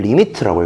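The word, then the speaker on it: lim: 너무 기니까 얘를 줄여서 쓰는 게 어떻게 쓰는 거냐면 이렇게 림이라고 씁니다. 이게 뭐라고 읽냐면은 리미트라고 읽어요. 리밋. 그래서 리밋, 보통 리밋까지 얘기하고요.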